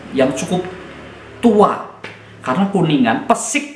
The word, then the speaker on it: Pesik: Karena Kuningan, Pesik Kuningan, tanpa R ya, Pesik, PESIK, Persatuan Sepak Bola Indonesia Kuningan, ini lahir 1938.